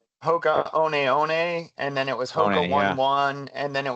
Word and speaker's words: Hoka: it's kind of like when I was at Hoka, no one knew how to say it. Like they would always come in and be like, "Are you at Hookah?"